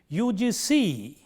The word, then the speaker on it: UGC: So, we say UGC, UGC, the C gets most important stress here. It is not UGC. It is not right to say I know the UGC.